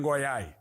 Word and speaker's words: Goiás: Governador Ronaldo Caiado, bandido, bandido não tem vez em Goiás. É o único governador incapaz de pronunciar o nome do próprio estado. Você já viu isso? Não consegue falar o S no final.